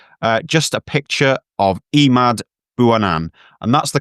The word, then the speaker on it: Emad Bouanane: Uh just a picture of Emmad Buanan and that's the correct pronunciation because I've just checked with the man himself.